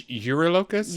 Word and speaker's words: Eurylochus: I think it's Eurylochus, like eucalyptus.